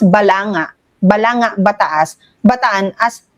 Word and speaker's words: Balanga: Bataan as balangga. Balangga, Bataan. Parang ang tagal-tagal mong Pinoy tapos ilang taon ka naman ng presidenteng ginagawa mo yan, how can you still mispronounce balanga as balangga?